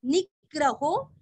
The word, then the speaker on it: निग्रहो: प्रग्रहो प्र के ऊपर आघात प्रग्रहो नी के ऊपर आघात निग्रहो व्य के ऊपर आघात व्यग्रो व्यग्रो प्रग्रहो निग्रहो व्यग्रो।